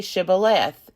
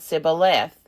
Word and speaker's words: shibboleth: When he said no, they said to him, "Then say Shibboleth." And he said Sibboleth, for he could not pronounce it right.